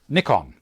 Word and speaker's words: Nikon: In Australia, we call it Nikon because that's how the Japanese pronounce it. In the States, they say Nikon because only one K following. If there was two Ks, it'd be Nikon for them. But we understand that the Japanese say N-I. They can't pronounce I.